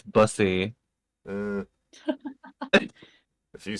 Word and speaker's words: Busey: Zach yeah, Busey, I believe, announced it.